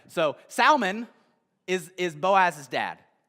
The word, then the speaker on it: Salmon: pronounce it I guess we pronounce it with a silent L except for the name Salman all right so Salman is is Boaz his